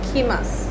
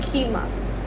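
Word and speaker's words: きます: की लिखा हो, ये ऑल्दो ये की अल्फ़ाबेट जो है ये एक्चुअली में की है, KI, बट इसमें टू कम को हम लोग जो प्रोनाउंस करते हैं वो हम करते हैं खीमास।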